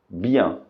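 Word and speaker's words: bien: que juntas tem som de a Ok portanto pronúncia correta é Bian Ok portanto se alguém pergunta para você como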